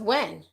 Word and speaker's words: Huynh: refreshing my page oh somebody says this pronounce when with a h okay well thank you um aisha i know how to pronounce that okay yes it's pronounced when huh okay let me